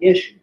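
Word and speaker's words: ישו: And if you want to pronounce it right, his name in Hebrew is Yud Shidvav, Yeshu.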